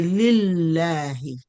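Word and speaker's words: لله: So we say lillahi, lillahi, because the word Allah is preceded by kasra.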